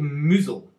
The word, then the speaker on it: Mousehole: I've been told it's called Mousehole, I think is how you're actually meant to pronounce it.